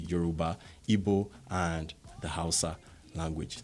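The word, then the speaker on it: Yoruba: to the world that's the euroba which is correctly pronounced as the euroba IBO and the housea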